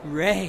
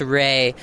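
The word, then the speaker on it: Rhea: That's Ray, but Ray. Great first time. R-H-E-A, pronounced Ray.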